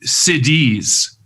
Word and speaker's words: siddhis: And one of the things about that is that Siddhas attain siddhis. It's a different word. Right. Siddhis is spelled Siddhis. Siddha is Siddha. So Siddhas attain siddhis.